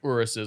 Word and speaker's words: Urus: Yeah, we rented Urus or Urus? It's pronounced Urus.